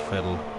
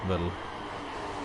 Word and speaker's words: Vettel: acceptable i think tv it's pronounced fatal not battle it's german can